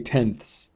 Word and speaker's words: tenths: the ones above but you'll notice the little uh THS here so when you pronounce it instead of saying tens you say tenths okay and then we're